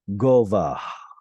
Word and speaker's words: gova: Gova. This is a consonantal guttural H sound at the end, which would have originally been pronounced gova, with sort of a breathy H there at the end.